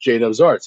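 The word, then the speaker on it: Judubs Arts: with pronouncing it so i told him it's pronounced jadob's arts he goes but then why is it spelled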